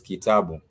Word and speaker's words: kitabu: I am talking about a name such as Kitabu. Ki, ta, bu. Those are 3 syllables. The ki as a syllable, the syllable ki has a vowel e. The syllable ta has the vowel a, and the syllable bu has the vowel u, because we have learned that we have 5 vowels. So in that example, you would have ki, ta, bu, which means a book.